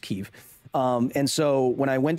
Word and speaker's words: Kyiv: I love chicken Kyiv, or Kiev, but it's pronounced Kyiv.